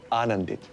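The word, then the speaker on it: आनंदित: Anandit. Anandit. The emphasis is on the first syllable.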